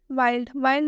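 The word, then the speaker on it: wild: Next exception देखिए वाइल्ड में एल आया हुआ है और डी भी आया है, डी से पहले एल आया है, लेकिन ये एक्सेप्शन है इसलिए यहाँ पर एल का उच्चारण आधा ल से होगा।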